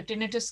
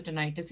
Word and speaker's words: tinnitus: अच्छा, टिनाइटिस जो है वो कुछ लोग टिनिटिस कहते हैं, कुछ लोग टिनाइटिस कहते हैं, मैं तो टिनाइटिस इसको प्रोनाउंस करती हूँ।